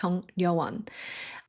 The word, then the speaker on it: Jung Ryeo-won: I'm going to say, Jung Ryeo-won is probably a name that doesn’t look like it's spelled. It's Jung Ryeo-won So Kim Sun-ah, when